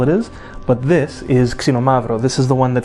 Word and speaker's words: Xinomavro: Xinomavro. Ksi, not kis. Ksi. It's the opposite.